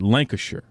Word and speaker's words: Lancashire: make sure I got this right how to pronounce this okay it's Lancashire okay like Liang Liang er yes Lana sure